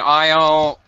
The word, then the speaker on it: aisle: of Island and is are all pronounced exactly the same way they should all sound identical yeah Isle uh isle is well there's an Isle for example uh in